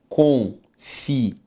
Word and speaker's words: confiável: E se eu separo o confiável, confiável, sílaba tônica, penúltima.